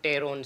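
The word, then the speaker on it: pteron: जो टेरिडो वर्ड है ये बना है टेरोन से। ठीक ठीक है, टेरोन से बना है, इसमें पी साइलेंट रहता है।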